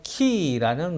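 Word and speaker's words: Χ: 랑 똑같이 생겼어요 그래서 저 어 키 이라는 말은 그리스도 쓰라는 크리스 토스 라는 어 그리스도의 그리스 원 모네 이제 첫 끌자 있죠 그래서 저 글자는 x 반응은 아닌 게 아니고 크 발음이 납니다 그래서 그리스도의 크리스마스 크리스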